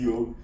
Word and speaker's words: yog: from the West it it's always been yog the word is yog uh but the a got added which was phonetically right uh I realized later on but then we started calling it yoga so if you actually